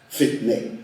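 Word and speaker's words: فتنه: Fetna en prononciation personne.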